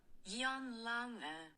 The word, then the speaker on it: Jan Lange: This is how it actually is pronounced. I did screw up pretty bad. Jan Lange.